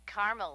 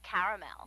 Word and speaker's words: caramel: it in caramel actually you said caramel when it's pronounced caramel can't we just call